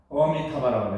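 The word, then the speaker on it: अमिताभ: 뭐냐면 이 정확하게 상스크리트 보면 이렇게 해야 돼요. 어미타바라고 해야 돼요.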